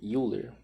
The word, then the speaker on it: Euler: é o diagrama de ven Euler né Euler Euler se pronuncia mais ou menos assim e a a